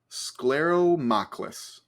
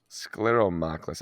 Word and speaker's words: Scleromochlus: It's an animal called Scleromochlus, which Can you pronounce that again? Scleromochlus. Scleromochlus.